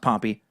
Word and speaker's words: Pompey: Also, if you ever talk about ancient Rome again, please try to remember that General Pompey is pronounced Pompey. Pompeii is a city that was destroyed by a volcano in ancient times.